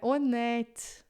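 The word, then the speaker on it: honnête: A pronúncia é aberta, é at mesmo, malonet. Você não vai fechar a pronúncia só porque tá com circunflexo.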